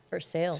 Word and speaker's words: Versailles: The town was called Versailles, For sales. spelled the same as Versailles.